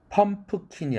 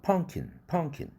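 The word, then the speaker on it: pumpkin: empty가 아니라 empty, 펌프킨이 아니라 호박이죠. 펑킨.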